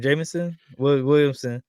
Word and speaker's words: Jameson Williams: Jameson Williamson or Williams?